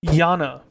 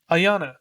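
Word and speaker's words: Iana: it's not the same Yana or Ayanna I always just say Yana I think it's Ayanna though I think that's the correct way to say it so I'll say it for this video Ayanna Great Gun G36 she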